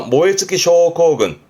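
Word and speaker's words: 燃え尽き症候群: 그래서 모에츠키 쇼코군. 어떤 증후군일까요? 외래어로 빗대말하면 발음은요, 방아웃도 신도로움.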